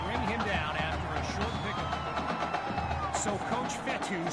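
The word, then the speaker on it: Fetu: him down so coach fettu spelled f-e-t-u for the longest time i was pronouncing a coach feta like feta cheese so let's just say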